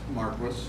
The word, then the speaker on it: Marquis: But the name Marquis, my name is pronounced Marquis. That's the English pronunciation. Think Marquis of Queensberry, the guy who invented the rules of boxing.